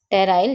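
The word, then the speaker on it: pteroyl: और इंग्लिश में हम इसको लिखते हैं टेराइल में हमारा पी जो होता है वह साइलेंट होता है।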